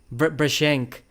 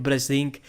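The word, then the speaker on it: Brzenk: Brashenk, he said that Brazink, they call it Brasink in USA, but originally it is a European surname. It is pronounced as Brashenk, something like that. It is not Brazink.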